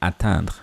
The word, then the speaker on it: attendre: By the way, there's a difference between these two words. As I've mentioned, attendre is to wait, attendre is to attain. I don't know if you can hear clearly the difference in the pronunciation. Attendre and then atteindre. Attendre, atteindre.